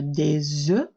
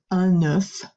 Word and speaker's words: œuf: If you're only talking about one egg, then it's un, but then you do pronounce the F at the end. So one egg would be pronounced un œuf with the F, but